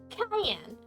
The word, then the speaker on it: Cayenne: My apologies, Miss, Cayenne. Pronounced like the pepper.